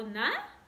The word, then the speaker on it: nariz: O nosso olfato, que é o nariz. Como que faz na? N-A. E para formar is? R-I-Z. Nariz. Tem som de S no final, mas essa palavra se escreve com Z.